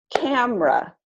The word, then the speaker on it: camera: syllable is dropped so all of these words that look like they should have three syllables are typically pronounced with only two syllables so all of these